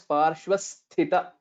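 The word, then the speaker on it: पार्श्वस्थित: Only thing is Parshvasthita. That is a Mahaprana.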